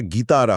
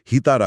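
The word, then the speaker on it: guitarra: আবার গিতারা মানে গিটার শব্দে জি ইউআই থাকার কারণে উচ্চারণটা গিতারা হয়। হিতারা হয় না।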